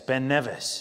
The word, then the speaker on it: Ben Nevis: Oh, yes, Ben Nevis.